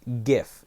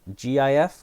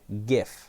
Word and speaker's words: GIF: And also, to end on one final note, it's pronounced GIF, G-I-F with a hard G. GIF, not GIF.